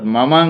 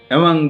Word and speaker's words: Mamang: আমি উচ্চারণটা করেছি এমং। আসলে অরুণাচলে লক্ষ্য করা যাবে যে এই মামাং শব্দটির এম লেটারটিকে সাইলেন্ট রাখা হয়, অর্থাৎ মামাং নয় এমং।